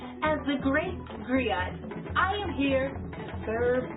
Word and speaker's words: griot: to share that history with you agrio it's pronounced griot or english agree it's a west african term